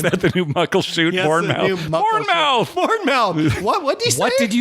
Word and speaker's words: Bournemouth: All right, it's Bournemouth. All right. It's Bournemouth. Okay, but it's spelled mouth. I know. Even Americans should say Bournemouth.